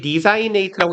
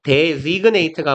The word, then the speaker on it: designate: 얘 designate라고 읽지 마세요. designate가 맞아요.